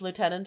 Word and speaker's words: lieutenant: In the Commonwealth, we pronounce lieutenant as lieutenant.